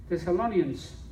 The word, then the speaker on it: Thessalonians: Thessalonians. Tesalonicenses. Thessalonians. La página 953. Primera de Tesalonicenses, capítulo 4, verso del 7 al 8. Amén. You got it? No, está bien. So it's page 1 Thessalonians chapter 4 verses 7 through 8.